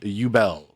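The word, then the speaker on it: Übel: Oh, good, but it's pronounced Ubel.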